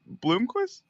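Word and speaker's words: Blomqvist: gonna call blist up from didn't dubis say Bloomquist oh it is Bloomquist it is Bloomquist how about Bloomquist you spell it right dude all right anyway Bloomquist okay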